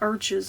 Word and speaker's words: Arches: And some people pronounce it arch. I mean, in French, it would be more pronounced that way, but whatever.